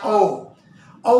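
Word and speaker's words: awe: itu dalam bahasa Inggris tulisannya a w e bacanya o ou itu berarti artinya kagum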